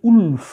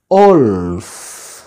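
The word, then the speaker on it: wolf: আমরা অনেক উচ্চারণ করি উলফ, এরকম নয়, অলফ।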